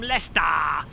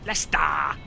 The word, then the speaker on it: Leicester: Lester anybody in shout from Lester that's how they say it locally Lester I've been to less